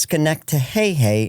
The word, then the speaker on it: Schenectady: It's pronounced Schenectady, and it means through the pines.